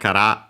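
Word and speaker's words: から: Cara, actually it was correct, cara, accent on the last more.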